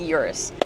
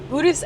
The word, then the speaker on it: Urus: Well, some people say the Urus. It's actually correctly pronounced the Urus, and I will tell you guys how I know that later on in this video.